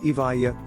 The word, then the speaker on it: Evija: The Evo, pronounced Evija, sells for a cool